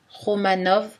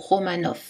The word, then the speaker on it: Romanov: On le trouve seul dans les mots d'origine étrangère, prononcés V ou F, Kiev ou Kiev, Romanov ou Romanov.